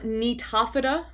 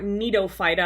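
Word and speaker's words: Gnetophyta: hypothesis right now oops phylum netopheta or neato phyta i hear it pronounced both ways and again really one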